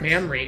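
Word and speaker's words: Mamrie: Grace hellig mamory heart mamory a m a m r i e like the glands no that's a mamoi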